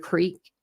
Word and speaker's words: creek: But when I would pronounce things, like if I said crick instead of creek, my mom would correct me.